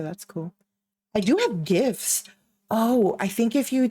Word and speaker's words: GIF: have a we okay GIF is obviously pronounced gift oh no it's Legion